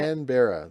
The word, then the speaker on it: Canberra: Canberra, like Canada bear. Cranberry.